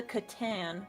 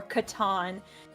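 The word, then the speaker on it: C'tan: it didn't create him this is called a Katan or Katan depending on how you want to pronounce it um basically what happens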